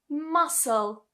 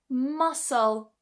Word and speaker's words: muscle: If we take for example absess abess you see I don't pronounce the e here. Here are some other examples. Ascend. Ascend. Muscle. Muscle.